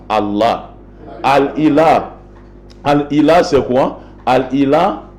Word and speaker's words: Allah: Ce Hamza a été supprimé uniquement dans le but d'alléger la prononciation. Et lorsqu'on a supprimé ce Hamza, Al-Ilah est devenu, n'est-ce pas, Allah.